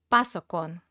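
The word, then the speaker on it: パソコン: In Japanese, it is pronounced pasokon. It's borrowed from English.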